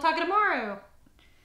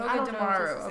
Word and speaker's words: Togedemaru: Oh, Takedemaru. I was gonna figure out how to say it. That one actually sounds like the Japanese name. Yeah. Or like it should be the Japanese name. Togedemaru.